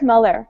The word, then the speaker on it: Muller: Muller? Derek, how do you say your last name? Derek Muller, but you know him as Veritasium.